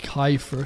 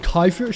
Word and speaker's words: kefir: Kefir is said like Kyifer.